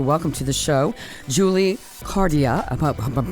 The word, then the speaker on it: Cardia: and happy to welcome to the show Julie cardia I'm pronouncing that correctly who is yes you are